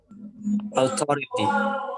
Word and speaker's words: authority: Authority. Authority. Okay, Andre. Authority. Okay. It should be pronounced O. Authority. Authority. But not O bulat, yes.